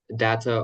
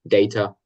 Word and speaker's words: data: So, you can pronounce this as data or data. Some people say it that way, some say the other.